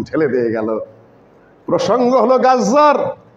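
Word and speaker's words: غزة: আজকে গাজ্জার অবস্থা, গাজা না কিন্তু গাজ্জা, ভুল উচ্চারণ করছে পত্রপত্রিকাগুলো, যার উপর তাসদীদ হয়েছে।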